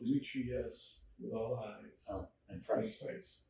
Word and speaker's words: Dimitrius: So the name is spelled with all I's. Dimitrius, and Price is really easy. Price. So it's Dimitrius with all I's.